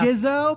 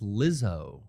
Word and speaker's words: Lizzo: Jizzo, I loose. Everybody, we're hitting the pop charts today and tonight. You guys got a favorite Jizzo song? Yep. Rumors. You're saying it wrong. It's Lizzo.